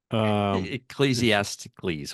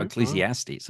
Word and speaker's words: Ecclesiastes: Ecclesiasticles, whatever it's. How do you pronounce that one? Yeah, okay. Ecclesiastes.